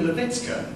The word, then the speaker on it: Lewycka: we don't want it so it's uh marina levitzka from sheffield and you must have heard of